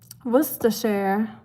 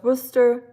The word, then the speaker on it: Worcester: Worsher. So the share sauce. So one more um syllable. Sure can add it to yours. But you were super close. Worcester sauce. Worcester. So, we just add a share.